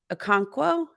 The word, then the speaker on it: Okonkwo: among uh pre-season regular season uh chicka's name Okonkwo did I do it right did I say